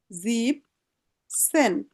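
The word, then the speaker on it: siebzehn: হ্যাঁ, জাস্ট 17তে বলছে জিপ, জিপ, সেন। হ্যাঁ, সেনের উচ্চারণ আগে সঠিক না হলে বাকিগুলি সমস্যা হতে পারে।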